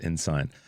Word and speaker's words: Ensign: It looks like Ensign, but I think it's Ensign.